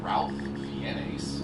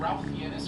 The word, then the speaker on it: Ralph Fiennes: the rules of red dragon first it's clearly ralph fiennes i mean learn to pronounce things but also referencing ralph fiennis from red dragon he's gonna talk in for